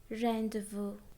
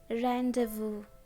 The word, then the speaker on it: rendezvous: There aren't many words in English with silent Z. There are only two words, laissez-faire, rendezvous. laissez-faire, rendezvous.